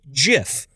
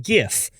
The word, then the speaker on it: GIF: we should all be pronouncing it GIF, like the peanut butter, rather than GIF.